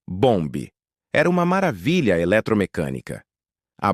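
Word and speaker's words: Bombe: Pronuncia-se bomb.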